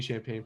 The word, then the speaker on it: Champane: of it is champagne so and then the true it's like the drink is my last name but no g but now so many